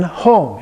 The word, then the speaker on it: Hong: And then Hong, and again, it changes slightly with the NG, the actual pronunciation, but it's very close to how we would pronounce it just looking at it from an English perspective.